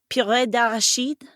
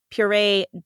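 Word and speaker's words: purée: imported from from France PID which is the terrible pronunciation for puree dered which is puree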